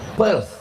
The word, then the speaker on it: Perth: Perth p e r. Th di ujung itu cara membacanya sah.